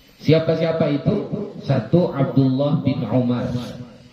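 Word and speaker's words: عمر: Kalau nggak pakai waw dibaca Umar, Umaru, Umara, ya.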